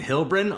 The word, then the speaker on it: Heilbron: Heilbron, right? I said it right? You nailed it. You Hell yeah. stuck the landing. It helped me to think about Heilbron from Lord of the Rings, the TV show.